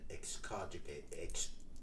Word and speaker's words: excogitate: So use the word, try your best, think carefully, and excogitate. Excogitate. Excogitate. 4 syllables.